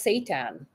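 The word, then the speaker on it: seitan: Um, so, oh, it's called, okay, so it's pronounced Satan.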